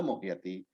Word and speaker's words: mohyati: It is a half a plus a full year. So mohyati, And what's the meaning, please?